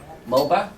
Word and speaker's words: Moba: How do you say your last name? Moba? Yes.